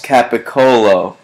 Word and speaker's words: capocollo: seriously Pantera 808 rights all cats capocollo it's capocollo so it seems like there's a little variance on the pronunciation here in spelling rat pee Fink 66